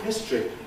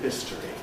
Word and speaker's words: history: And did I speak of history? Well, many people do not speak of history.